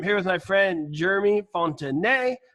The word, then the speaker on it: Fontanet: I'm here with my friend Jeremy Fontanet. I am pronouncing a silent T because he is French.